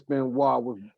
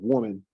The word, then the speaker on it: Benoit: All right, Quavo, what's your thoughts on the Double J Chris Benoit, with woman match? Sorry, you didn't say it right. It's with Benoit.